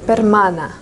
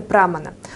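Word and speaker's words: प्रमाण: Там написано «прамана». «Прамана» — это неверное произношение. Верное произношение — это «пермана».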